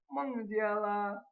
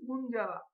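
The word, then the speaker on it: 孟加拉: ঠিক তেমনি বাংলাদেশকে ওরা বলে মংজিয়ালা মংজিয়ালা মংজিয়ালা কুয়া। অনেক সময় আমাদের বাংলাদেশিদের মনে হয় যে ওরা হয়তো বলতেছে মুনজালা। না, আসলে অ্যাকচুয়ালি এটা ঠিক মুনজালা হবে না, মংজিয়ালা মংজিয়ালা কুয়া।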